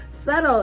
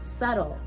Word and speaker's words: subtle: it's not gonna happen subtle it's spelled see I was gonna say see you b t l e subtle trick one tricky and I learned it